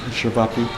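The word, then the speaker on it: ćevapi: One had the the spinach dishes and then the other one had the how do you say Shvapi. Shabbappi.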